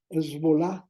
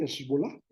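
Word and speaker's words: Hezbolá: posteriormente entra otro grupo lo voy a pronunciar Como creo que se pronuncia esbol que son sí esol que son un grupo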